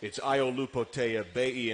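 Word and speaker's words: Aiolupotea-Pei: Kind of sounds like potato baby, and it's Iolupo Teabei, and it's with a P, but it's actually pronounced like a B.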